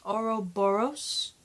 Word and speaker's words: Ouroboros: 2 episode 3 titled Ouroboros or something man I can never pronounce the name it's oh you are oh Bo r OS Ouroboros know many way um